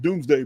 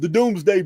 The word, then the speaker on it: Domesday: It's spelled Domesday, Domes, Domesday. I think it's pronounced Doomsday book.